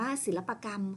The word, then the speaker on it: ศิลปกรรม: ว่า กรรม นะ คะ ตัด สระ อะ ออก นะ คะ อ่าน ว่า ศิลปกรรม ค่ะ ต่อ ไป คำ ว่า